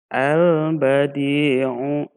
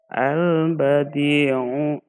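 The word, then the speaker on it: البديع: Adapun nanti cara membacanya lamnya dibaca dengan jelas atau terlihat ee atau terdengar dengan jelas seperti contoh ketemu ba albadiu nah ini lamnya terbaca dengan jelas albadiu bertemu dengan Jim Al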